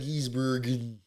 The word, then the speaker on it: van Gisbergen: But every time I say Gisbergen, I think either it just I talk too